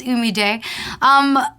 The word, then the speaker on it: Humillé: like ABC of Humillé, is how do you pronounce our name? And I'm already saying it's Humillé.